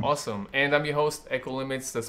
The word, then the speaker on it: Ekolimits: And I'm your host, Echo Limits, that's spelled EKOLIMITS.